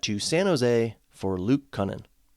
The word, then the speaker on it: Kunin: And they traded that to San Jose for Luke Kunin. I think that's how you say his name, Kunin, not Kunin.